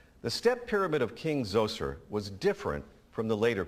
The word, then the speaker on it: Zoser: This pyramid was for King Zoser, that's spelled Z-O-S-E-R, in about 2650 BCE.